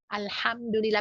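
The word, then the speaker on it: الحمد لله: Alhamdulillah pakai ha, bukan pakai ha ya. Kalau ha tuh hak besar, artinya beda lagi.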